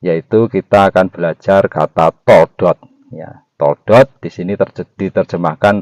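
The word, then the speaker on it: תולדות: Di sini kata silsilah juga dikatakan toldot. Hurufnya adalah tau, waw, lamet, dalet, dan tau lagi. Toldot bacanya.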